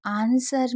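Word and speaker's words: answer: यहाँ पर याद रखिएगा कि आंसर में आप डब्ल्यू को साइलेंट रखते हैं।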